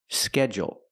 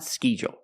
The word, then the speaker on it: schedule: the short e e SK schedule schedule not schu we use the short a sound like bed and k e it's open and relaxed e k bed eggs the word is SK schedule and the DU makes a j sound like juice and jump together schedule schedule and we can use